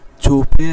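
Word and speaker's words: چھپے: উচ্চারণটা ভালো করে দেখি, ছুপে কে কেমন হবে, এটা চে পর হা হালকা গুন্নার মতো আসবে, এরপরে পে, ছুপে রহে, পাও টাকনু পর্যন্ত গোপন থাকবে, ঢেকে থাকবে।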